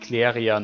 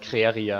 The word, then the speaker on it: Cleria: Ys once flourished because of a metal called yeah, it should read Cleria, not Creria.